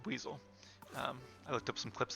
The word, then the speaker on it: Buizel: Also, I did look it up, and it is pronounced Buizel. I looked up some clips of the anime where Ash actually had a Buizel, which I had forgotten